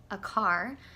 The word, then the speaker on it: Aquart: My name is Aquart. It's spelt like a quart of milk.